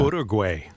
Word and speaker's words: Uruguay: How do you pronounce that? Uruguay.